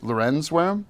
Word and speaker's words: Lawrenz-Wareham: We debated more how do you pronounce Lorenz or Lawrence than we did Wareham. Nell Lawrenz, is it Lawrenz-Wareham?